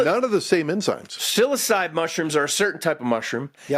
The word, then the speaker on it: psilocybe: So psilocybe mushrooms. Does that sound right, Doug? Psilocybe. The P is silent. So it's like the H in Dr. It's like the H in Dr. Behat's name. It's silent.